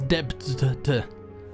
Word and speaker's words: debt: Where does the B go in debt? Well, that's the funny thing. You're supposed to pronounce it as debt.